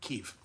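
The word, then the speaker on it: Kyiv: is like there's a whole underground city under Kiev that's crazy I should say it right Kiev uh um but so now food is back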